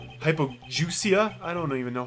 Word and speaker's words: hypogeusia: Pronounce. Hypogeusia. Like goose.